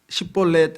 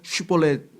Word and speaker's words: 십볼렛: 그러면 성경에도 보면은 십볼렛 해야 되는데 십볼렛 못하고 슈볼렛 그러죠.